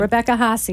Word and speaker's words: Rebecca Hahessy: Am I pronouncing your name? Yes. Yes, you're good. Rebecca Hahessy.